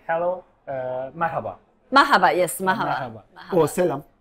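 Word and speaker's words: merhaba: just say hello uh Mahaba Mahaba yes Mahaba oh Salam Salam isaba more traditional maraba yeah but we we we um it's a silent h really it's maaba yeah maaaa maaba okay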